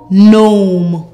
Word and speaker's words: gnome: N om gnome.